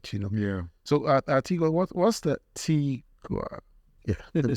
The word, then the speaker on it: Tigua: So Tigua, what's the Tigua?